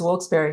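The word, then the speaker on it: Wilkes-Barre: And I have been told, now that I'm new here, that the proper pronunciation is Wilkes Barre.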